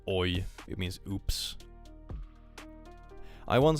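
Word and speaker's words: oj: no best Swedish word oi it's actually spelled with a J though it's oi it means oops I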